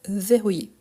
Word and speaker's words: verrouiller: attention à ça donc verrouiller en sachant qu' ici on entend bien les e ver rouiller il n'y a pas